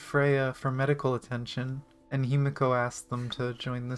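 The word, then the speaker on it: Himeko: 哎， Normie, like Aunt Himoko will never understand how we Kaslanas fight. We're born warriors. I love how she says her name wrong every time.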